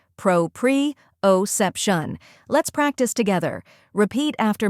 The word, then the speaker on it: proprioception: way to say it the correct pronunciation is pro PR oep Shan let's break it down first part Pro like Pro in professional second part pre O say it smoothly as one syllable preo third part sep shun sep like step and shun like function when you put it all together Pro pre otion let's practice together repeat